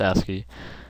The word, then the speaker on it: ASCII: asy it's a i i and it's actually pronounced asy and spoken that way um it's just a